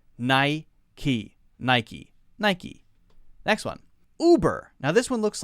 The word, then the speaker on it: Uber: it you burr no Americans will say this one as uber uber now that is a weird sound and might not sound like native English right because we don't have a lot of things which start with Oh like that in English not as many as for example you write but here we say ooh BRR ooh BRR ooh BRR notice that hard sound it's not a year you ooh harder sound uber uber okay next one